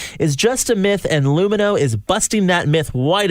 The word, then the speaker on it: Lumineux: That's LUMINEUX. Remember, it's spelled with an X so that you can X out the harm.